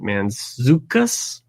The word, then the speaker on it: Mantzoukas: Kline is another actress Jason meant he pronounced his name Mantzoukas you've seen him in